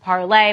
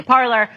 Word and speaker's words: Parler: News that Parler, which was the second Twitter, it's actually pronounced parlay, but we're Americans, so we say Parler, is back on iPhones.